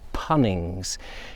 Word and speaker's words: Poynings: You've got various options at the dyke of which way you can go down towards Poynings, which is what he does, or Punnings, as I believe it should be pronounced.